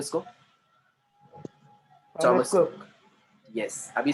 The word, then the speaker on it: Thomas: थॉमस, वहाँ पे H silent है. एच Thomas. साइलेंट है. हाँ, अपने इधर थॉमस बोलते हैं उसको, पर थॉमस नहीं है वो.